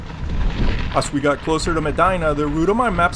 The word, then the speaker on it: Medina: well-deserved break before continuing on we're close to medina is how it's pronounced at about 32 miles of gravel riding